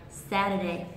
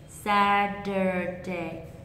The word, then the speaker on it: Saturday: Tuy nhiên ý thì trong tiếng Anh Mỹ thì chỗ này người ta sẽ là bật thành âm tr nhẹ thay vì là âm ter họ th ta sẽ đọc là saturday saturday saturday saturday saturday còn